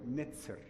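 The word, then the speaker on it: netjer: makes sense because actually when I say nature that is not correct it must be said in a proper way netzer that is how the student of ancient Egyptian language will pronounce this or netzer and became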